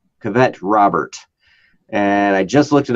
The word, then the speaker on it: Cavett Robert: People by a man, I think it's pronounced Cavett Robert is his name. Cavett Robert.